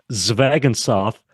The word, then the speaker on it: Zvegintzov: first uh but it's zagan sof uh it's just like a spelled I tell people that and they don't believe me I think I said zagan sof so I was close